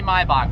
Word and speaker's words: Maybach: You guys don't like the way I pronounce Maybach? Then I'm gonna call it Maybach. Just kidding. Maybach music. It's actually Maybach, but whatever.